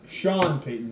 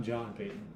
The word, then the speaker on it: Sean Payton: My pick's Sean Payton for Coach of the Year. No, Sean Payton, not John Payton.